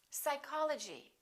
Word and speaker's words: psychology: Psychology.